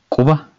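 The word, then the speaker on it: quba: is harca finger is kuba i am not sure if you can pronounce the first sound it is not kuba this is not k but this is cool you have to practice kuba the same here up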